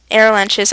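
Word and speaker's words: Arromanches: Gold Beach's goal was to take air lunches and go inland while contacting U.S.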